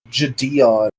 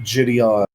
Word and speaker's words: JiDion: So they have a whole segment with him as well as uh the guy whose name apparently is pronounced Jadeon and not Jidion.